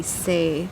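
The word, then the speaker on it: sae: float so high and it's spelled s a e say that will float say hi is also so um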